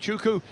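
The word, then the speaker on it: Ugochukwu: is on poll position we were educated overnight that is a silent W so it takes a bit of getting used to having put the W in for years but uku is the driver on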